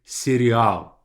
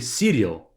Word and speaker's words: сериал: Like the things that you eat, but the pronunciation is going to be a bit different. The stress would be a bit different. We say serial. So don't say cereal, because then you'll be misunderstood.